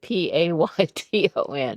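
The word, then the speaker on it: Peyton: Oh, I knew it, but I spelled it P A Y T O N because it's pronounced Payton.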